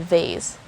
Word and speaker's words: vase: the dictionary so yeah i confirmed that it's another way of pronouncing the word vase again it's vas next word is vice